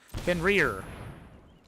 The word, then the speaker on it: Fenrir: Fenrir.